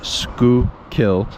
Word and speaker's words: Schuylkill: Indeed, the river's name itself, pronounced Schuylkill, shows the influence of early Dutch settlers.